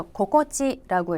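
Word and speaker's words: 心地: 마음 심자에다가 땅지자를 붙이는데 요거 앞에 마음 심자 고꼬로의 로가 빠지죠. 그래서 고꼬찌라고 읽고 고꼬찌 이까지 붙이게 되면 우리말에 기분이 좋다 또는 상쾌하다라는 뜻이고요.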